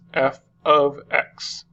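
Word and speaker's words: f(x): parentheses X okay and this is pronounced as f of X okay and that just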